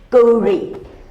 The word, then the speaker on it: Gauri: The AU should Like be pronounced in French, Gauri. Many people don't call her Gauri, you know. They have Gauri. What do you call her, Laurie? I call her Gauri.